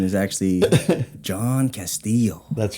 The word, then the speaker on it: Castillo: Yeah, I guess people don't know that the two L's is silent. Sound. Castillo.